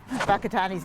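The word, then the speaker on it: Whakatāne: I suppose I've already learned that Whakatani's not spelt with an F, and Taronga is like a tow truck, and that's about it, but I'm terrible.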